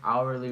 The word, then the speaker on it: hourly: my plumber charges blank hourly rate the correct answer is an hourly rate because H is silent in the word hourly and hourly starts with